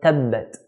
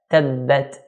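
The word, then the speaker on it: تبت: The first word of the surah is the word tabbat. Ta is pronounced when the tip of the tongue touches the gum line of the front two teeth. So ta, tabbat, tabbat.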